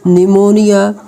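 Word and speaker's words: pneumonia: आया हो जैसे कि पी S psychology P silent निमोनिया पी एन या पे पी साइलेंट है उसके बाद पी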